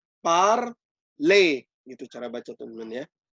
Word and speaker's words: parler: Anyway, er itu dibaca e, ya. Jadi parler.